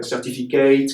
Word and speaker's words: certificat: Every silent consonant in French, an E was added, like certificate, candidate. In French, candidat, certificat, you don't pronounce the T.